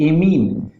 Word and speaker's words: amine: उसे हम क्या कहेंगे, सेकेंडरी एमीन या सेकेंडरी अमाइन भी इसका प्रोनाउंसिएशन किया जाता है।